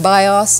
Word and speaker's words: BIOS: is a an acronym because it is pronounced as if it were a word bios if those of you